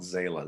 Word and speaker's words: Zalah: to get a hold of me my name is spelled zayla z a l a h said a l